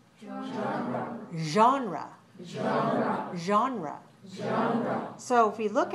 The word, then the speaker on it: genre: an english word but we borrowed it from french and we pronounce it in english like this genre genre genre so if we